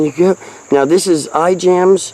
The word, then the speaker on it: Ijams: Now this is iJams. I think it's pronounced Imes, but it's the Nature Center in South Knoxville.